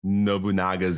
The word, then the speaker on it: Nobunaga: thank the writers of Nobunaga's Ambition. I mispronounced. I was looking at it, I was like, oh, I called it Nabunga as a 15-year-old kid